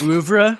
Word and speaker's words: oeuvre: I feel like you have to really pronounce it, as French as possible whenever you say it.